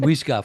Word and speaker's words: Wijga: perfect pronunciation. Yeah. I will call him Wijga from now on. Wijga.